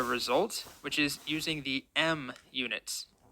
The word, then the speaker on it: em: which is using the M units em usually it's just pronounced M the origin of the